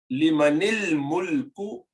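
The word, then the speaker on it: لمن الملك: Now here, just remember, limanil mulku, and then you don't pronounce this alif, al-mulku, this hamza, and al-yawm, this hamza, and al-qalam, you do not pronounce this This is called hamza of wasl, hamza of connectivity.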